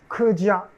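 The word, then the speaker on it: 客家: Kedia en mandarin. Hakka, en fait, c'est sa prononciation en cantonais.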